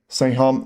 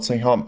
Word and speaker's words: Saengkham: His name is pronounced like Saengkham, not Saengkham.